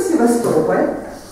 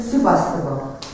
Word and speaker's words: Sevastopol: We came to Sevastopol, English pronunciation Sebastopol, and immediately found private accommodation where we left our suitcases and went to see the main attraction, Sevastopol Harbor.